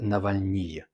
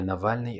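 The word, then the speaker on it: Навальный: Mettons-nous d'accord dès le début que j'ai vraiment du mal à prononcer le mot Navalny à la française Navalny. Donc je vais continuer à l'appeler Navalny à la russe et j'espère que votre compréhension n'en sera pas biaisée.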